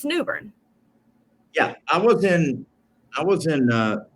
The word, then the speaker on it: Newbern: Well, you know, Commissioner, I live in a town called Newbern, but it's spelled newborn. But nobody pronounces it newborn. It's Newbern.